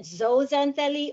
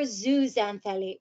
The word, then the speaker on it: zooxanthellae: repeat that after me zoo zan feli let's put it together zuzantheli and you can pronounce it zozantelli or zuzanthali either way is correct so the coral polyp